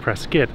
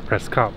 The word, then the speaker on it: Prescott: is where we are which is actually pronounced press SK now press cop which is very confusing to me we're going to go